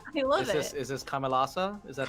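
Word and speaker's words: Kamelåså: Is this Kamelasa? Is that how you pronounce it? Cameloso.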